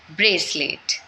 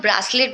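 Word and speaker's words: bracelet: Okay, उसके बाद आता है ब्रेसलेट। बहुत से लोग ब्रासलेट भी प्रोनाउंस करते हैं, वो गलत होता है, ब्रेसलेट होता है।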